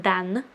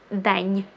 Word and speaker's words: день: Okay, so for instance, if there was no soft sign here, it would be just dan, and if I put the soft sign in the end of it, it's день, день. So n transforms to н, день.